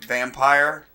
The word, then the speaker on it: Vampyr: Vampire, spelled with a Y.